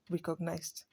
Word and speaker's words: recognized: Recognize ends with z, a voiced letter. So when you want to pronounce the past tense, you say what? Recognized.